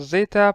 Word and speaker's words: Zeta: But it's pretty much called Zeta, pronounced as Z, nothing too special.